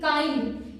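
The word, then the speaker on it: kind: यहाँ पे के का उच्चारण क्या होगा, का IND काइंड, and hard HARD, hard HARD, hard, और क्या है WORKING, हार्ड वर्किंग।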